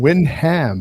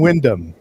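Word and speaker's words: Wyndham: anyone say it so I was always saying Windham but now I'm G be saying Windom well naturally I mean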